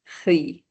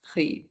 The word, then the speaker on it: riz: So far we have une pomme, une banane, le pain, le fromage, and then rice is le riz, just riz. The Z is silent again.